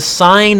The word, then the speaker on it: sine: Sine, S-I-N-E, abbreviated S-I-N, pronounced sine, not sin. Sin is when you don't do homework in my class. Sine is the trig function.